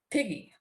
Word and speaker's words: PG: This precise notation indicates that the pronunciation of these initials would be with a hard G. So the word would sound as P-G or piggy.